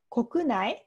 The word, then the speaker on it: 国内: 読み方がちょっと国内と読みます。